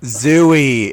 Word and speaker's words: Zooey: o's it comes up zooey it's zooey yeah it's it's definitely a zooey hey deschanel her parents said that she's named after the book jd salinger says it's pronounced zoe so why the [